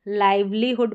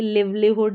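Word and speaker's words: livelihood: तो मैनहुड हो गया, यहाँ पर वुमनहुड हो गया, सिस्टरहुड, पेरेंटहुड, और ये है लाइवलीहुड, इसको लाइवलीहुड पढ़ेंगे, लिवलीहुड या इस तरीके से नहीं पढ़ेंगे।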